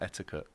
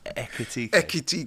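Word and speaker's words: Ekitiké: Echitik. Okay. Yeah. Right. It's quite ekit. It's quite a What was I saying? Eti. Yeah. You were saying like etiquette, but it's echit.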